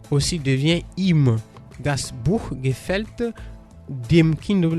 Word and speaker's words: ihm: Das Buch gefällt ihm, c'est pour le R, donc ihm qui s'écrit I-H-N.